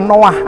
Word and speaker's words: Noah: Dan kalau kita tinjau dari etimologinya atau asal katanya, Nuh itu di dalam bahasa Ibrani berarti berasal dari kata Noah atau N-O-A-H, membacanya seperti itu.